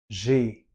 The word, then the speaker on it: j'ai: Vous voyez ici, c'est J apostrophe. AI, c'est le son et. Le verbe avoir. Et je, le pronom personnel, il y a une élision devant le A, la voyelle, et ça nous donne un son.